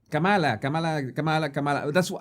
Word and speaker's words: Kamala: I apologize that sometimes I mispronounce her name because in Spanish, in Espanol, we say Kamala. Kamala. That's how we say it in Spanish. We stress the middle syllable.